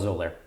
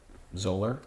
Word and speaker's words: Xolair: It's called Xolair. Xolair? How do you spell that? Xolair. Oh, I had a Z there. Yeah, I know. That's how the X is pronounced.